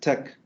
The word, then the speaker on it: TeX: And it's pronounced Tech, okay? So not Tex, please do not mispronounce it.